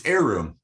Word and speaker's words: Heiroom: He has a company called, you pronounce it for me. It's Heiroom.